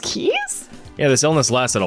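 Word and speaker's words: Caius: Yeah, that's pronounced Keys?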